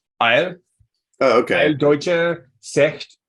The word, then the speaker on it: Ayl: How do you pronounce AYL in German? Because I'd like to know. Eil.